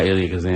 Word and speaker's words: Elia Kazan: I read a couple biographies, one on Elia Kazan, is that how you pronounce it? Yeah, Elia Kazan.